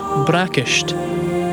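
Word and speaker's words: bracaist: for breakfast and lunch to say breakfast in Scottish GIC you'd say braish braish and the word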